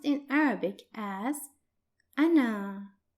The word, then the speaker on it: أنا: The first pronoun, I or I am in English, is pronounced in Arabic as أنا, أنا, and it's written like this.